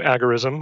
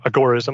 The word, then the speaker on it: agorism: be an introduction to agar ism or a gore-ism I think he preferred accent on the gore so he's sort of gore-ism I just think agar ism rolls off the tongue better yeah me too